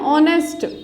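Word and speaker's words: honest: ऑनेस्ट बोल रहे हैं इसको हम नेस्ट तो नहीं बोलते इसको हम बोलेंगे ऑनेस्ट तो हमारा यहां पर साउंड किसका आ रहा है ओ का यानी कि एच हमारा यहां पर क्या है साइलेंट वर्ड है तो हम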